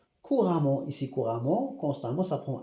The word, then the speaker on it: couramment: Donc nous avons ici un adverbe he un adverbe de manière elle parle couramment le français le français f minuscule c'est la